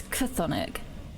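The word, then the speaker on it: chthonic: on it because I think how you would pronounce it Sonic oh it's a hard it's cathonic relating to or inhabiting the underworld that is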